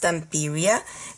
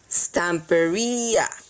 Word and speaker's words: Stamperia: asking how to pronounce and it is not pronounced T peria because it is a Latin word and I